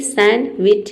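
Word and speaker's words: sandwich: बीच में ठीक है तो यहां पे डी को हम प्रोनाउंस नहीं करेंगे केवल एन को प्रोनाउ प्रोनाउंस करेंगे सैंडविच।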